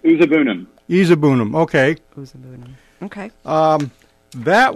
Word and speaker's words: Uzuegbunam: You had a big one, and I hope I'm pronouncing this right. Uzuegbunam, is that the name? We've been pronouncing it Uzuegbunam.